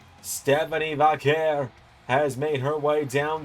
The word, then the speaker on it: Vaquer: I I nearly said Vakor. Stephanie Vakair has made her way down to the ring looking for her first championship in the LS11 universe tonight.